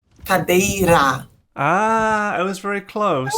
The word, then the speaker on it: cadeira: Is it cabeiro? Cadeira. Ah, I was very close. Was Cabeira. enough. Okay, Cadeira.